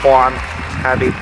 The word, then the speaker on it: Juan Abbey: It's spelled Juan Abbey. Emphasis on the Juan, you know, wannabe.